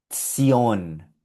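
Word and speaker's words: tion: Y esto se pronuncia Tzion, Tzion, Tzion, como una T con S, Tzion.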